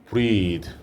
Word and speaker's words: breathe: 이거 우리 돼지 꼬리 발음이라고 그랬죠? breathe.